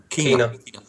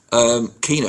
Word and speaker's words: Quina: Oxford or is it Quina? Is that how you pronounce it? Keena. Keena, fantastic feat, and the